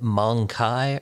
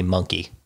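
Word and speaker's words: mon-keigh: Obviously, it's supposed to be monkey, as an ape.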